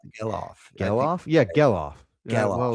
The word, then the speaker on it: Gelof: So, uh, moving over to Zack Gelof, Jellof. Gayoff. Gail. Gay. Gailoff. Gillof. I just looked up and they said it rhymes with yellow but with an on the end.